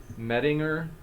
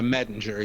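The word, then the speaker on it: Mettinger: Bale as a dying rising deity by in parentheses Minger quote unquote the riddle. Yeah. Metinger.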